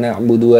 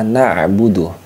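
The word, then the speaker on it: نعبد: kedua yaitu pada kata na'budu na'budu Nah di sini adalah huruf Ain huruf Ain itu masuk kategorinya wastul halqi ini makhrajnya di wastul halqi teman-teman wastul halq bagian tengah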